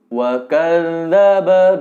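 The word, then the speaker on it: وَكَذَّبَ: Yang pertama, wa kadzdzab dal titik alias zal, cara membacanya itu dibacakan saja bunyi da, tapi sebelum melafalkan da, terlebih dahulu lidah ditempel di gigi seri atas.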